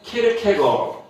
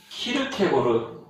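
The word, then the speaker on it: Kierkegaard: 근데 이제 발음이 덴마크어에 따르면 쉐안 키에르케고르, 키에르케고르 이렇게 하는데요. 우리 표준어에 따르면 이렇게 돼 있어요. 쉐렌 키르케고르. 근데 이거는 이제 이 사상을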